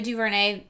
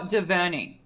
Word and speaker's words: DuVernay: 13th of the documentary on Netflix it's ava duvernay is the filmmaker and it is so well done and is it okay or diverting how do you say you probably know more